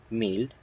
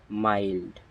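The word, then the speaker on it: mild: যেমন এম আই এল ডি মিল্ড ইটস নট মিল্ড এর উচ্চারণ হবে মাইল্ড কি হবে মাইল্ড এর উচ্চারণ হবে মাইল্ড এর অর্থ হচ্ছে মৃদু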